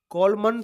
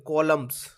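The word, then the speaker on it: columns: है match the कॉलम कॉलमन मत कर देना बेटा इसको कॉलम पढ़ते हैं कॉलम्स कॉलम्स एंड साइलेंट है इसमें spelling C ओ एल यू एम एन एस होती है चलिए जोड़िया मिलाना तो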